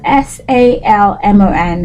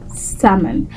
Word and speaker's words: salmon: we we want really so in this case of you know this tasty fish the L is silent as well for example a sentence